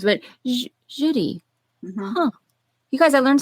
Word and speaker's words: Jeudi: right there right JY is your name pronounced Judy you know I always thought it was Judy it's Judi Judy my good and you're